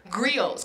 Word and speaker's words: griots: Because he comes from a family of griots. Can you say that for me? Griots. And griot is spelled G-R-I-O-T-S. It's like riots with a G in front of it, right?